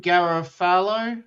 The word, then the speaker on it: Garofalo: How do you pronounce her surname? Janine Garofalo?